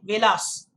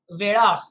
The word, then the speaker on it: Velas: have the devanagari script because in english the spelling is v-a-l-a-s and then people who don't know it might end up saying velas it's very possible very possible but it is actually vedas the typical sound in marathi very important okay it's